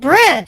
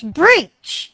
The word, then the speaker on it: breach: are you saying breach you said Bridge it's breach yes' you're pronouncing you're